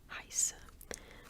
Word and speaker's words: heiße: But yeah, so it's pronounced like S. Ich heiße.